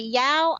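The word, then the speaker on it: Dao: So the Yao are, and that's usually spelled D-A-O, although it may be Y-A-O or it may be Z. It's spelled various ways.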